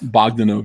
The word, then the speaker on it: Bogdanove: how you say his name? Bogdanov? Bogdanove, yeah. I always called him Bogdanov.